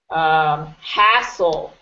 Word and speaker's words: hassle: Hassle. Hassle. Good. Hassle. Good. Yeah, it's sort of like a U, like a short U. Hassle, as opposed to hassle. Really emphasize the first syllable.